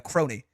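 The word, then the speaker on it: Kronii: Like, when I say Crony, I think of like, it's pronounced that way. Yeah, I think of like this, you know, like a crony.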